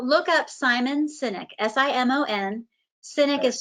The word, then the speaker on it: Sinek: oh okay so look up simon sinek s-i-m-o-n cynic is spelled s-i-n-e-k he did a ted talk and